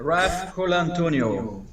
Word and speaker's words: Raf Colantonio: Raf Colantonio.